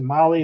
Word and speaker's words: Mahle: And for all our podcast listeners, Molly is spelled Mahle.